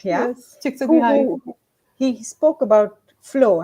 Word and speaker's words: Csikszentmihalyi: by um, Csikszentmihalyi. I hope I've Yes, pronounced yes, his name yes, right. Yeah, yes. Csikszentmihalyi.